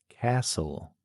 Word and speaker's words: castle: Castle. A silent letter T.